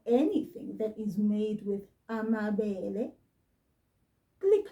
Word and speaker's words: amabele: And this one was made with a grain called amabele. Pay very good attention to how I'm saying this. Amabele.